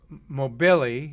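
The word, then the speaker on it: Moghbeli: got kayla baron christina cook is how you pronounce her name nicole mann uh ann mclean jessica mear jasmine mo mo billy is how you say her name kate rubins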